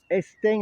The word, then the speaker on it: Estaing: Estin avec un G à la fin, ça fait vraiment marseillais ça. Il y a d'autres mots qui ont un peu cette même prononciation.